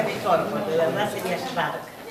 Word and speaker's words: Szwarc: Schwarz, pero él lo pronuncia mejor, porque de verdad sería Schwark.